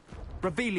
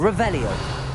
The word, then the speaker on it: Revelio: Revelius. You're saying it wrong. Ugh, Revelia. Much better. Revelio.